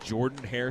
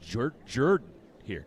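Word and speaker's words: Jordan-Hare: I was told by some of the locals here, I've always called it Jordan Hair Stadium, which is just behind the third base dugout. I've I was told it's pronounced Jordan here.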